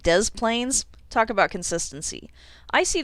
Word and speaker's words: Des Plaines: to be silent but we're going to pronounce both s's in this name and make it des plaines talk about consistency i